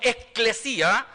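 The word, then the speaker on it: ἐκκλησία: En el original griego, ¿cierto?, se pronuncia como eclesia, que deriva del griego kaleo, ¿cierto?, que significa los que han sido llamados de afuera.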